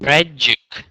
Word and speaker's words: tragic: end debris debris deis tragic tragic tragic so in Vietnamese I know you pronounce TR as uh CH but this is not English so just try to say SE separately r t r tragic